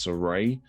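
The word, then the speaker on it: Sarray: mcmahon and nxt signing i believe it's pronounced soray on the outside she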